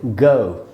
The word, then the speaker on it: go: जाना, GO, गो, ऐसे हम बोलते हैं। NO मतलब नो। ये दोस्तों सही उच्चारण नहीं है। सही उच्चारण क्या है? आधा अ और ऊ, औ, यानी जाना को बोलेंगे GO, गो।